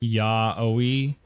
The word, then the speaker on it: yaoi: Yao, pronounced yaoi, is a Japanese originating term for manga where two men have sex.